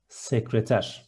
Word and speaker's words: sekreter: Single short syllable, sauce. Next one, secretary is similar, sekreter.